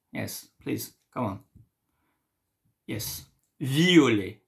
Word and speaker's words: violet: Yes, violet. Be careful to the pronunciation. Violet, violet. Okay.